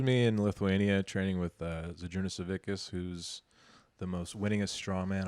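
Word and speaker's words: Žydrūnas Savickas: His name's Zydrunas Savickas. Is how you actually pronounce it.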